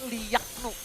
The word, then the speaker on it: Liaknu: Bacanya tuh Liaknu. Liaknu. Iya, kita bantu juga buat kalian semua yang bingung cara bacanya Liaknu. Seperti apa? Liaknu ya.